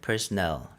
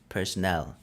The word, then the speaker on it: personnel: 이거 스펠링도 다르고 발음도 약간 다릅니다. 이거는 personnel. 이거는 personal. 강세가 다르고 뒤에가 nail이고 이건 null이죠. personnel. 오른쪽에 있는 거는 personal.